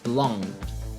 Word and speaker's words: belonged: Não, a pronúncia é muito mais branda, muito mais suave, é mais como um tocar de língua no céu da boca fechada. Belonged, liked, owned, ok?